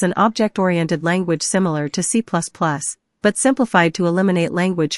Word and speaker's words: C#: C# is pronounced C#.